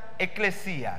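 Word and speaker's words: ἐκκλησία: en griego, ahora vamos a ser sofisticados, se pronuncia eclesia.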